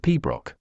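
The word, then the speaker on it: piobaireachd: of music aad boring pberry Chad pronounced P Brock is a classical music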